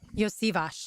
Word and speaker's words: Iosivas: Iosivas is how you say his last name.